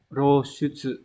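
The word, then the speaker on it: 露出: Từ số 4 nhé, đọc là roshutsu.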